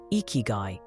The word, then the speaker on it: Ikigai: At its heart is the captivating concept of icky, pronounced ikyu.